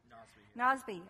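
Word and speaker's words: Nozbe: Is that how you pronounce it? Nosby.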